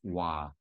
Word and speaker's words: Hua: And the reason that it gets mixed up is because hua, HUA, in Mandarin is pronounced wa.